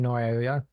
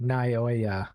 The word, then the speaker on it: Naoya: secretly has romantic feelings find NOA I'm saying it wrong naoya yeah they EMB on